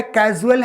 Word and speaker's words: casual: बोला है कैजुअल है, और एक क्या लिखा है, CAUSAL लिखा है।